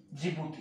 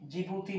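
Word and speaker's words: Djibouti: Target किया सबसे पहले एक छोटे से देश जिबूती को।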